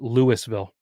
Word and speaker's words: Louisville: we have we have a place that's spelled just like that but up here they call it Louisville there's uh there's one